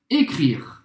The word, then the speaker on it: écrire: Écrire. Écrire, novamente não pronuncia o E no final.